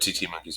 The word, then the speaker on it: titi: right today we're going to be talking about tt monkeys and everything that's cool about them just let the breakfast show the safaki monkey is my favorite just saying okay um but tt monkeys are my second favorite so that's okay so